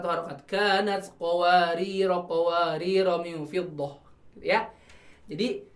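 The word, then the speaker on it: قَوَارِيرَا: Jadi berfungsi nih alifnya, jadi ro-nya jadi 2 harokat. Kanat qawariro kalau di wakafkan.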